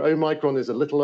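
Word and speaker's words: omicron: they pronounce it differently well i studied classics so this is this is oh okay i'm going with that then yep it's a micron o micron an omega so o micron is a little o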